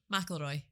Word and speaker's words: McElroy: McElroy. McElroy, as in the golfer? Yes. Right, like Rory. okay. How did you pronounce it earlier? Was it McIlroy? Yeah. I get that a lot. McElroy, like the golfer.